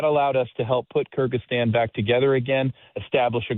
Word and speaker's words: Kyrgyzstan: Uh, you were the commander at the Manis air base in it, pronounced the country name, Kyrgyzstan. Is that correct? Kyrgyzstan.